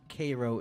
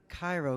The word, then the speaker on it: Cairo: very bottom tip of Illinois called um it's pronounced Koo Illinois but for poetic purposes for poetic purposes I uh I decided to pronounce it Cairo because it rhymes with maybe my favorite part